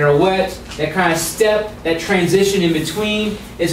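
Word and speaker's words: steppe: the whole idea is step we can yeah it's spelled funny s-t-e-p-p-e but just go ahead and take off the excess pe it's the same idea step and so this is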